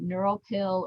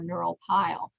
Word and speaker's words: neuropil: pill or neural pile it's actually okay to pronounce that either way neural pill or neural pile and that's just that